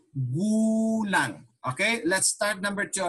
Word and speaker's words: Gulang: Ilang taong galang ka na? Okay, hold on. Always remember this when you're reading Tagalog, not in English pronunciation. Gulang.